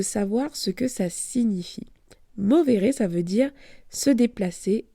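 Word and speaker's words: movere: comment on dit puisque j'ai dit mobé comme comme l'espagnol mais c'est mi m o V e r e mais c'est pas important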